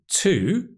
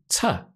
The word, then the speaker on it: to: it can also be to. And we call this the weak form, to, which is when the word is unstressed.